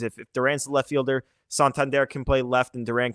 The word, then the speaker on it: Santander: Pronunciation, Santander.